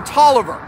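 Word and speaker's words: Taliaferro: 37th uh virginia and a guy named william toliver it's spelled talia pharaoh but it's pronounced hollover these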